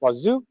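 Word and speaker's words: Wazuh: I promise it's pronounced Wazu.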